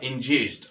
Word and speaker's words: engaged: لو جيت قلت لك get engaged، get engaged، وركز معايا هنا علشان في ناس بتنطقها engaged، لا غلط، هي اسمها get engaged، engaged. يبقى اذا هنا دي تتنطق جيم ودي الجي العاديه بتاعتنا، يبقى engaged.